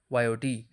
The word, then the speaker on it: yacht: In my opinion, it should be called yacht, YOT. Now let's see. It sounds like yacht, rhyming with lot, so its pronunciation is clear.